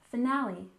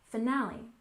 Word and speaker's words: finale: first syllable series series and finale stress the second syllable finale finale so if there's a